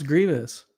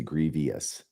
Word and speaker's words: grievous: how do people pronounce Grievous Grievous oh there's no I there but it's very common for people to say Grievious yes yes I know